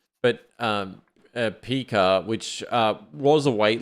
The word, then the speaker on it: Pika: think you pronounce it Pika because it's like Pikachu but um Pika which uh was a